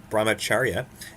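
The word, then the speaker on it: brahmacharya: Gandhi based his commitment to non-violence on a spiritual foundation that emphasized self- pronunciation braach that word again brahmacharia and that sounds much better and the positive action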